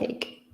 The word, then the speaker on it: ache: So it is a stomach ache. Yeah, be careful with the pronunciation of the second word there, ache, with a K sound.